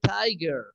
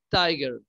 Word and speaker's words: tiger: salvajes no de tiger se pronuncia de tiger si tiger se escribe tejer pero se pronuncia tiger ok dice crisis a